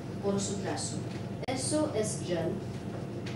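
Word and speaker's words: 人: Jen, su pronunciación es R-E-N. Como este se pronuncia como J. Jen. J es como consonante. E es como A, E, I, U, O. Es como vocal. Y más otro consonante forman una sílaba. Y esta sílaba, diferente de inglés o castellano, es más tono. No es como acento, no, es tono. Esto es segundo tono.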